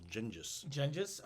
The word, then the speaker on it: Chinggis: sing about Ghengis Khan, or Chinggis Khan is how they kind of say his name.